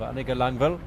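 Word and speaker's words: Annika Langvad: by the woman herself a nickel on bail so disregard how you see it spelt it turning into the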